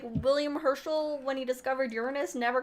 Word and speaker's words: Uranus: Yeah, it's the one planet that is still Greek, and the Greek pronunciation would be Uranus.